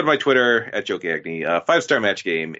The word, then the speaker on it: Gagne: is how you spell gagne in Canada we would say it the right way we would say gagne